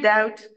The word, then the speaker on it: doubt: in favor monosyllable here doubt is spelled ZT when B is normally not pronounced and becomes a Vestige